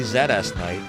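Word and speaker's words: ZSKnight: In the interview that I will one day release, I swear it's coming of ZS Knight and myself, his name is actually Zeds Knight and the emulator is called Zest Ness.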